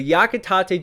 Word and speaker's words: Yakitate: of yakitate because i was corrected on my pronunciation from my last video but yakitate japan volumes 1 to 26 about competitive bread